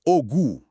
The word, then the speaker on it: Ogu: Namanya Distrik Ogu di Arakawa World. Mungkin Anda familiar sama stasiun Jroku ya. Tapi itu beda pengucapannya OKU OKU. Lokasinya di kita World. Nah, yang ini ogu dan ceritanya itu wah unik banget.